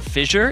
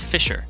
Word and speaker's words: Fissure: Apparently, it's not fissure. It's Fisher. Fisher. Yes. It's an S sound, not a J sound.